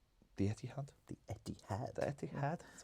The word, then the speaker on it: Etihad: The Etihad.